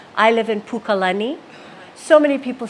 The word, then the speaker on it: Pukalani: and all the lenning names I live in Pukalani so many people say Pukalani or even just Lani Lani is incorrect lny so Pukalani ah okay and we've gone through all of